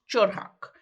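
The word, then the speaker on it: 철학: The word of philosophy in Korean is pronounced chorhak.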